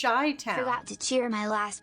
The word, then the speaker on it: Chi-Town: Chi-Town says, well, I know you use TSS to mispronounce my name, so I feel safe here. It's Chi-Town.